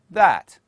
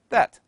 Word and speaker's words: that: As a strong form, it is pronounced as that, but in a weak form, it is pronounced as that.